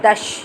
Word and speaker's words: दश: और नंबर 10 यानी 10, इसको हम संस्कृत में कहते हैं दश। सा और शा का अंतर है बच्चों, हिंदी में 10 और संस्कृत में दश, इस प्रकार हम प्रोनाउंसिएशन करते हैं।